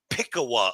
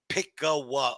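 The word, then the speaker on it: Pickaway: And by the way, everybody that is following this story, it's called Pickawa, Ohio. Pickawa, Ohio. Pronounce it correctly, please.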